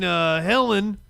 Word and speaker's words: Helene: We're going to talk about Hurricane Helene. I think it's Helene. I keep saying it wrong. I kept saying Helena last night.